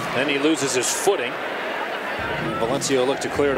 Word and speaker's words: Valencia: You know, we debated all week, is it Valencia, is it Valencia? If you're in Spain, it's definitely Valencia. In the end, we went with Valencia, the American pronunciation of it.